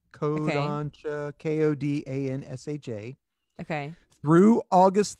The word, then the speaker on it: Kodansha: There is an anime company called, I'm going to mispronounce it, Kodansha. Kodansha, okay.